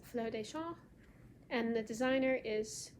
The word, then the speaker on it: Fleurs des Champs: It's spelled C-H-A-M-P-S, but it's pronounced Fleurs des Champs.